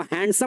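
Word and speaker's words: handsome: इसको हैंडसम नहीं पढ़ते हैं। ध्यान रखिएगा। इसको हैंडसम नहीं पढ़ते हैं। हैंडसम पढ़ा था। यहां डी साइलेंट हो जाता है।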